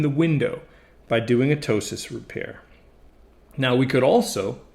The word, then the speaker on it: ptosis: that's called ptosis protip that's a silent p pronounced ptosis of the eyelid so